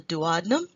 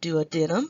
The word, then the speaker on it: duodenum: valve the the first section is called the duodenum you may also pronounce it do Adam if you would like the second part is